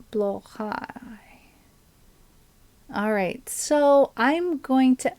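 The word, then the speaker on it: Blåhaj: not very oh should be more or right blow High alright so I'm going to ask YouTube to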